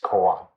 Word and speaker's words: kōan: Gong'an, Chinese, Japanese is kōan. Huatou is Chinese, Japanese is Huatou.